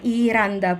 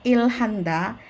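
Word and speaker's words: 일한다: Ini bacanya adalah iranda, bukan ilhanda, tapi iranda. Hanya melebur ya, digantikan real.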